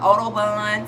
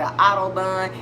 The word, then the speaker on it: OdoBan: right here yes so i pronounce that autobahn sometimes i pronounce the autobahn it just really depends on how i'm feeling that specific day also depending on what part of the world you're in will more than likely determine how you will pronounce the name of this particular product